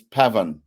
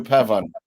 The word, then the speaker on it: Pavon: this chap from France mat pavon well the N is silent for people who like speak French but I'm not French so it's Pavan Matthew Pavan and his first win